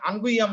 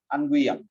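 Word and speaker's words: unguium: Sorry, হ্যাঁ আনজুইয়াম, আঙ্গুইয়াম লেখার উচ্চারণটাই ঠিক আছে, আনগুইয়াম।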